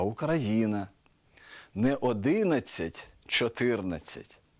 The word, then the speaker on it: Україна: у яких найбільше помиляєтесь не український а український не Україна а Україна не 11 14 а